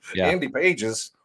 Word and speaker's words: Pages: The G is silent because I have to keep reminding myself, like Andy Pages.